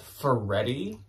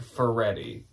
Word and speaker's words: Faherty: I believe it's actually pronounced Faherty. And that doesn't make sense to me because there's no letter between the R and the T, but I'm fairly certain multiple of you told me it's like Faherty.